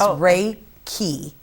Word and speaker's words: Reiki: So the actual wording of it is how it's actually pronounced is Reiki.